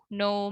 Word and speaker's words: know: Nah, ini teman-teman harus hati-hati juga karena banyak banget yang huruf K-nya itu dibaca. Jadi know. Banyak orang yang bilang know ya. I know you misalnya. Atau I know that you are her sister. Nah, itu salah ya teman-teman. Jadi hati-hati. Kita nggak boleh bilang know. Melainkan harus know.